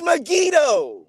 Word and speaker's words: Megiddo: says that solomon built nigadoo no it's not megiddo brother it's not it's me it is megiddo it's not brother yes it is like you